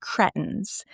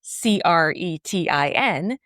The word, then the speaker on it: Cretan: A Cretan, Cretin, is not a nice name to call someone. So I'm going to pronounce it Cretan because I like it better.